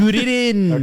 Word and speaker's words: Kuririn: Why are you saying it like that? That's how they say it in Japanese. I think it's so goofy. Is that how you say it? Kuririn.